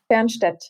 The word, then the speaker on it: Fernstaedt: could you say the right pronunciation of your name, how you say it, where you live in the Czech Republic? Fernstaedt.